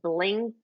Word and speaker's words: BLINQ: They said, I think they spell it Blink, but it's BLINQ.